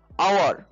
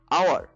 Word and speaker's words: hour: For example আওয়ার, ঠিক আছে, আওয়ার HOUR, আওয়ার মানে হচ্ছে ঘন্টা, ঠিক আছে, এই আওয়ার হচ্ছে ঘন্টা। এইচটা যে সাউন্ডটা, এই এইচটা সাউন্ডটা হচ্ছে ইনভিজিবল মানে সাইলেন্ট মোড, এটা এ, সো আমরা ইউজ করলাম এন, ঠিক আছে।